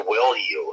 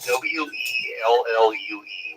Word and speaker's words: Wellue: Well, if you want to see what's going on, the device that I wear is made by Wellue. It's spelled WELLUE, Wellue, and it's an O2 monitoring ring.